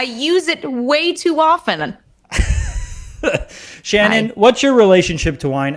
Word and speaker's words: Shannon: hate tannins please welcome it rhymes with tannin shannon woodward oh hello i was